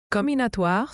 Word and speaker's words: comminatoire: Comminatoire se prononce comminatoire.